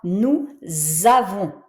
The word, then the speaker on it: nous avons: Donc, tu vois, nous avons, je prononce comme un z, puisque j'ai le S suivi d'une voyelle.